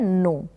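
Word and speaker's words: know: इसका जानना है और इसको पढ़ा जाता है नो। तो यहाँ पर आपने सीखा कि जो लेटर है वो कौन कौन से स्पेलिंग्स में साइलेंट रहता है। एन से पहले अगर के आएगा तो ये साइलेंट रहेगा इन सारी स्पेलिंग्स में,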